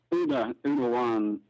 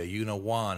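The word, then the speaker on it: Úna Bhán: And you pronounce that with a W, Una Bhan, instead of Una Bhan or Bhan.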